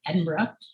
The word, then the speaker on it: Edinburgh: i gotta make sure i say it right edinburgh um literally i took the train there and